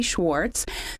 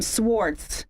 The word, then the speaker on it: Schwarz: thank you to Cindy Schwarz the production engineer did I mess up your name Schwarz Schwarz um I've only known her for like 5 years you said it right all right yeah I'm